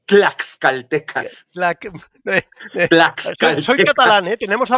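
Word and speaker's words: tlaxcaltecas: Con t claxcaltecas.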